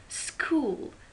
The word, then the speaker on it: school: School, H is silent.